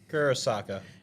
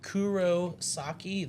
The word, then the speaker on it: Kurosaki: Kurosaka. It's Kurosaki.